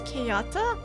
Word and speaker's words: Kayata: But it's Kayata.